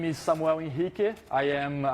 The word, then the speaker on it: Henrique: my name is Samuel inik I am that's a Brazilian pronunciation of my name because I'm Brazilian um I have been